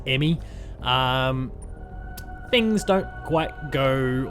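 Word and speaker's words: E.M.M.I.: in in their place we're sending the emmy first pronounced emmy um things don't quite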